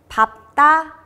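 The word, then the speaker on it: 밟다: 그렇지만 예외인 경우인 밥이라는 단어의 경우 밥다, 밥고, 밥지로 발음이 됩니다.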